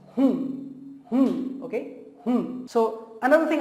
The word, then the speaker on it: हूँ: And that's why I want to tell you that remove that N to 15%, like just pronounce 15 to 20%. So it's hun, okay?